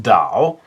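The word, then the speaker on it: 岛: In this case, I've chosen the word for island, which I believe in Chinese, Mandarin Chinese, is pronounced Dao.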